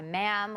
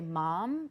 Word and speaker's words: ma'am: Sir and her by ma'am which rhymes with Spam like they write that